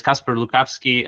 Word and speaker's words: Kacper Lukawski: My name is Casper Lukovski.